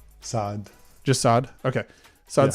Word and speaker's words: Saad: S-A-A-D? Saad.